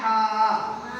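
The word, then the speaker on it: حاء: তাহলে এই হাটা উচ্চারণ হবে কোথা থেকে? গলা থেকে। কোথা থেকে? গলা। পরে দেখি হা, হা, হা।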